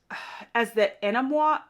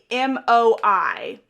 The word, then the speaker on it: Anemoi: They're also known as the Enamois.